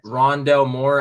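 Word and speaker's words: Rondale Moore: rondell moore that's how you say his name rondelle moore out of purdue the receiver he honestly this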